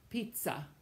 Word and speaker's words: pizza: The Z in Italian does not sound like the English Z. It sounds instead like a TZ, like the word you know, pizza, pazzo, stazione, lezione.